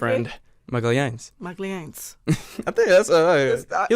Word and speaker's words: Magalhães: Magalhães. Say it one more time. Magalhães.